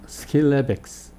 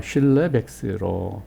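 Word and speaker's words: Schillebeeckx: 발음이 정확하게는 스킬레백스 이렇게 하는 게 맞는 것 같습니다. 영어로는 스킬레백스라고도 하는데 우리는 보통 한국말로 슐레백스로 번역을 합니다.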